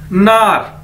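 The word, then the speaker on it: 哪儿: उसके बाद ये वर्ड है हमारे पास नार, एन ए आर, नार, नार मतलब क्या है, वेयर, कहां, ठीक है,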